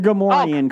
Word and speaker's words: Gamorrean: How do you pronounce that again, Jason? The Gamorrean.